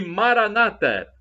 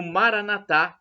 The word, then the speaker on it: Maranata: E Maranata, como dizem os nossos irmãos separados, os evangélicos ou protestantes, com a tônica na penúltima sílaba, ou Maranatá, como dizemos nós, com a tônica na última sílaba, é uma expressão do